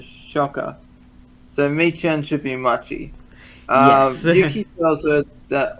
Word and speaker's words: Machi: Machi, that's it. Machi, not Michan.